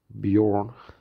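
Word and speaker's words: Björn: as it sounds, the animal in Swedish also, is pronounced like this, Bjorn.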